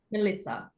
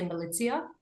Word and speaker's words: Milica: Milica. Militza. In my head, I keep going to say Militia, but it's Militza.